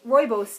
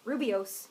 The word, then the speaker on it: rooibos: is Rubio's Rubio's yes I was like the mispronunciation of rooibos tea because I pronounced it Rubio's for many many years like an s it's okay so see